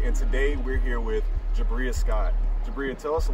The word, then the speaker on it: Jabria: So how do you pronounce that? It's Jabria.